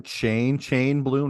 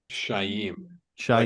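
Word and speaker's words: Chaim Bloom: about is his name is his name chain chain bloom or chain Bloom shy shy a weird kind of pronunciation to it really that's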